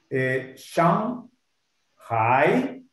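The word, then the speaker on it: 上海: Sería Shang Hai. Sigue sonando dos. Tercero ahí te va. Hai. Okay. Hai. Como decir wo, ni, sí. Hai. Porque hi. Si lo dices hi, ese es acento 2.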